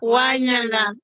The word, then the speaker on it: Wanyala: Wanyala is thank you in the Lugisu language. How do you pronounce Wanyala? Wanyala. Wanyala. Anna knows it. She will teach you. Yes. Wanyala. Wanyala. Yes.